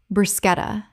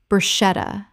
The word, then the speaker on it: bruschetta: Word 28, bruschetta. Common mispronunciation, brushetta. Correct pronunciation, bruschetta. The CH makes a K sound in Italian, and this word kept its Italian pronunciation in English.